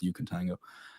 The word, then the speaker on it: Ukentango: It's a Ukentango, isn't it? Yeah, Ukentango. Yeah. I pronounced it this morning, but it is Ukentango.